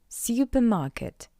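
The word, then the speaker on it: супермаркет: This word is borrowed from English, therefore to pronounce this word in Russian you just need to read the English version with the Russian accent. Supermarket.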